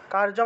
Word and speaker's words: কার্যম: কারিয়াম ইত্যাবা ইয়াত করার্ম কার্যম আছে উচ্চারণ হবে কারিয়াম কারিয়াম ইত্যাবা ইত ইত ইয়েবা